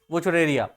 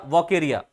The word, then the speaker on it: Wuchereria: तो वुचरेरिया बैनक्रॉफ्टाई, या सबसे पहले हम हेडिंग यहां पर डालेंगे वुचरेरिया या वोकेरिया। अब जो भी इसका नाम या प्रोनाउंस करें कोई बात नहीं, सब चलता है, ठीक है।